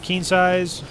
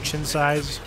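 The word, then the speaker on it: Qin's Sais: The other one, you can get situational keen size or chin size, however you prefer to pronounce it. It's up to you.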